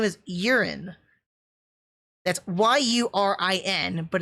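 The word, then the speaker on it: Yurin: but her name is urine that's y-u-r-i-n but it's pronounced urine like your pee i i i it's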